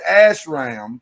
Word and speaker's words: ashram: Sadhguru owns an ashram in southern India. What? Ashram. Stop Ash. SH, not ass. Ash.